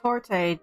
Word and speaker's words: torte: Tort. Okay, it's a silent E thing.